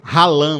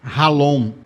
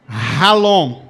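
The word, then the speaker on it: חלום: Você vendo aí, se fosse ler assim no português mais básico, ralã, né? I a ficar, mas se pronuncia ralon.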